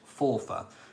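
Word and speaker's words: Forfar: the earl offer it spelled for far but it is pronounced fourfa so f-o-r-f-a-r um which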